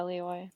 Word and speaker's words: Leoy: Did I pronounce her last name correctly? Yeah, Leoy.